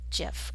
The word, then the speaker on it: GIF: And I'm going to make sure that the end of this file name says GIF or GIF, depending on how you say it.